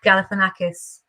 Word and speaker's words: Galifianakis: my name is Zach Galifianakis it starts with a gal and it ends with a kiss do-do-do-do-do I wish my